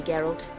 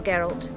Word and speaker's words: Geralt: route I understand farewell geralt and good luck on the path appro that's a soft G oh tough times